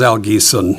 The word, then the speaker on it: Al Giesen: Uh and yes, you pronounced it correctly. Uh my name is Al Gon and uh my wife's here too in the audience.